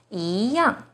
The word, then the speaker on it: 一样: The second E is followed by a fourth tone, yang. So E here should be the second rising tone, 一样.